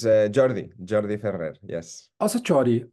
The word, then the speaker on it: Jordi: different language yeah yeah so it's JY like the English pronunciation exactly exact it's it's